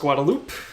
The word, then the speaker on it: Guadalupe: that's pronounced manek uh the road that is spelled Guadalupe is pronounced guadaloop and the road that